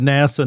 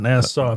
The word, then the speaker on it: NASA: You said NASA, not Nassau. Very good, Matthew.